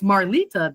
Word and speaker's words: Marlita: If you put the accent mark on it, so the closest way to pronounce my name in Vietnamese is Malita. Malita, but it's Marlita. That's the actual pronunciation.